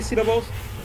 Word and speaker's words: syllable: very softly right so listen again syllable syllable one two or three has the strongest sound C right C so the stress is on the first syllable right s okay right